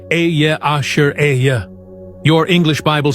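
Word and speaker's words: אהיה: Ehyeh, Asher, Ehyeh, pronounced Ehyeh, Asher, Ehyeh.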